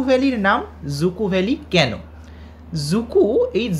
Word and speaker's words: Dzükoü: জুকু এই জ উচ্চারণটা কিন্তু একটু অন্যরকম।